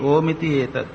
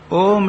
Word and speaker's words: ओम: इसके तीन शब्द है अ का उच्चारण अ गले से होता है उ मुंह के भीतर और म ओट पर आक बंद हो जाता है तो जितना भी